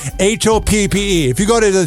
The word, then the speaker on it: Hoppe: No, it's not Hoppy. That's how everybody and AI closed captioning thinks you spell it. Hoppe.